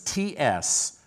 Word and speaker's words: Tsidkenu: Jehovah Tsidkenu, it's Tsidkenu. I'll spell that again.